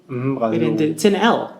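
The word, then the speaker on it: Brasil: here's Portugal Portugal Brazil bra L the word has an L on the end but we say a u here it's and yeah the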